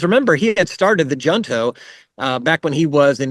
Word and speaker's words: Junto: Franklin before, the Junto, in Spanish we would pronounce it the Junto. I studied Spanish many years ago, and so it's a little hard for me to say Junto, but we suspect that's probably the way that he pronounced it.